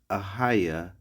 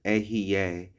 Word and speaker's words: Ahaya: The Most High's name is Ahaya, Ashar Ahaya, and some people will pronounce it Ahiye, Asher Ahiye. But in the ancient Paleo Hebrew, there were no vowels. There were no E's. There were no U's.